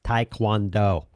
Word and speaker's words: taekwondo: and then i screwed it up again it's taekwondo boom nailed it and i'm not going to